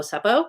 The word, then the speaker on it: seppo: In Australia, you get called a seppo. Seppo rhymes with septic.